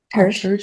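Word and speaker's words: Tersha: And so, Can you spell that? Tersh, T-E-R-S-H-A.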